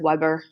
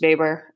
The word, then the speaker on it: Weber: of alfred weber so his last name looks like weber it's pronounced baber i don't know he's